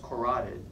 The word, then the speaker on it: carotid: the carotid canal Carol did Howard spell is pronounced carotid spelled Carrollton no I but there is an